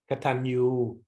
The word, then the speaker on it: Katanyu: Katanyu, and this is with a tilde on it, so it's pronounced N-Y, Katanyu.